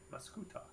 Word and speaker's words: Mascoutah: yeah I put m-a-s-c-u-t-a Mascoutah it is it is a little closer to gouda than that but yeah it's it's